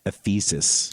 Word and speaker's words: Ephesus: Yeah, at Ephesus. In Oh, at Turkey. Ephesus, yeah. Ephesus? Am I- Ephesus. I'm putting the emphasis, Emphasis on on the wrong. Ephesus. I put the emphasis on the wrong syllable.